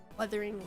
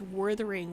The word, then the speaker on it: Weathering: What was so funny about Weathering Waves is they kept pronouncing it as Withering Waves. Like Withering, but it's weathering, right? because there's no R after the U.